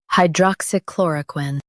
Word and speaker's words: hydroxychloroquine: Both US and UK have the same pronunciation of this word, hydroxychloroquine. Now read the syllables shown on the screen naturally. Hydroxychloroquine. Hydroxychloroquine. Focus on chlor and keep quin light.